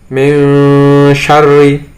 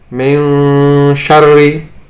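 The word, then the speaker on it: من شر: Contohnya di sini ada nun sukun bertemu dengan sob, membacanya adalah fangsob, fangsob. Kemudian di sini ada nun sukun bertemu shin, min syarri, min syarri.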